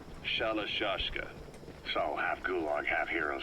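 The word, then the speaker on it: Shalashaska: The guerrillas were using the name amongst themselves. By the time I got to hearing about it, pronunciation had wound up as Shalashashka.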